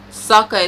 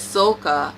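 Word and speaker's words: Sokka: some of the characters for example ang is ang iro is eero saka is soccer and agni kai is ugly key at first i thought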